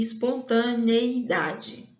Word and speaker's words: espontaneidade: Então, a pronúncia correta e a escrita também é idoneidade e espontaneidade, com I e não com A, ok?